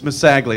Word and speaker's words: Masagli: Yes, it's Masagli is how I pronounce that.